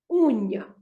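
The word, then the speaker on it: unha: And the word uña, again, it has got two syllables and the stress is on the first syllable before last. Uña.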